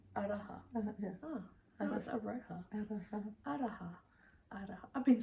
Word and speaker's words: Aroha: And then I saw one by Frances Araha. Aroha knits. Araha. Araha. Yeah. Oh, that was Aroha.